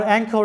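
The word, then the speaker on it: anchor: আর অ্যাঙ্কর এখানে লক্ষ্য করো সিএইচ এর উচ্চারণটা চ না হয়ে ক এর মতো হয়েছে। আসলে এই ধরনের শব্দগুলো এগুলো হচ্ছে কিছু ব্যতিক্রম শব্দ, আর যেটার কোনো রুলস নাই।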